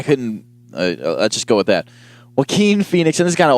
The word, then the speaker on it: Joaquin: so our next topic Joaquin Phoenix I believe that's how you pronounce his name I hope to god that's how you pronounce his name I I couldn't just go with that well keen Phoenix in this kind